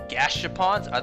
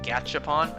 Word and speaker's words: Gashapon: Gashapons? Oh, I thought it was spelled with a C. I've been saying Gatch, like with the CH, Gachapon. I guess it is Gashapon.